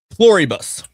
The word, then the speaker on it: Pluribus: This is when we were So we just watched Plur Plurus. Is that how you say it? Pluribbus.